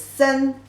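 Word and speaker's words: 森: Actually, you put these two characters together, the pronunciation for this character is sen, sen.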